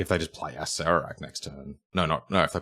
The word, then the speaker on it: Acererak: It is Acererak.